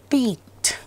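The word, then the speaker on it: piqued: India's coral islands of Lakshadweep, people write picked interest. No, this is a wrong. Pick a fruit. Pick a chocolate of your choice. Not pick an interest. Peaked. It's pronounced as peaked, means arouse interest.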